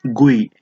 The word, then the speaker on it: GUI: लेकिन आजकल के ज़माने में मोस्टली ग्राफिकल यूजर इंटरफेस या गुई, इसको प्रोनाउंस किया जाता है गुई से, या GUI भी हम इसको सिंपली कह सकते हैं।